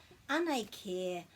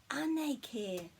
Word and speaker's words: Anei kē: So just be careful to pronounce this as care, because this sound is e, and with the macron it's just a bit longer.